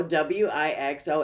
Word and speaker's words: Wixom: And I told her your name, and then she totally butchered it. And so I said, no, Wixom.